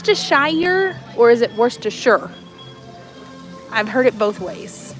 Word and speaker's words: Worcestershire: you say okay so it's not Worcestershire it's worse to sure is what most people